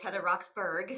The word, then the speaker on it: Heather Roxburgh: now he also as you said Heather it's Heather roxburgh so I'll just pronounce my name properly most people watch it